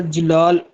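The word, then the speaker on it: Celal: Professor अच्छा professor जलाल की spelling note कर लें। सी ई एल ए एल क्योंकि टर्की लैंग्वेज जो है उसमें जो जे है उसको सी लिखा जाता है हमारी इंग्लिश में तो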